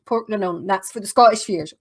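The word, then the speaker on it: Portglenone: So if you ever see anywhere that says Port Glen 1, that's actually pronounced Port Glenone.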